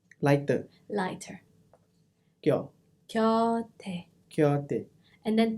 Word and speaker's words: 곁: 겨, Kyo with the Y. 곁, Kyo. 곁에, Kyote. 곁에, Gyo. 곁에. Okay, it's K but it's Gyo. It's not Kyo. It's not 겨, it's 겨. Gyo.